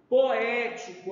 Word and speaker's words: poético: ela é paroxítona e nas palavras proparoxítonas a sílaba antepenúltima é a mais forte então antep quer dizer que tem a última a penúltima e a antepenúltima exemplo poético ó poético tá então a gente chama poético veja aonde que está aí a sílaba tônica da palavra poético tá agora nós vamos